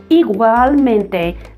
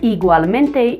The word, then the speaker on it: igualmente: Igualmente sounds kind of like an iguana, but we get this igual and then mente.